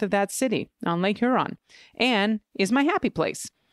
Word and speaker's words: Huron: is the new correction it's Huron Huron more of a long u sound as in bulge